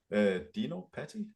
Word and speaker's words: Dino Patti: Yeah, so how do you pronounce your name? Dino Patti, I Oh, think.